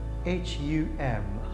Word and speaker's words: hum: It's pronounced H-U-M, hum.